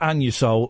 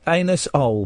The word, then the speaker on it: Anusol: Anus-ol, but it's pronounced Anusol to save embarrassment.